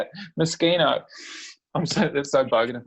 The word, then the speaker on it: Moschino: makes um the designer of miss gina miss moschino that's not how you say it moschino i'm sorry they're so bugging me you look